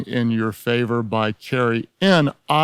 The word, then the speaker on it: Nieuwhof: Your Favor," by Carey N-I-E-U-W-H-O-F, pronounced Neehoff, Newhoff, Neewhof, all sorts of things, Nieuwhof is the right way.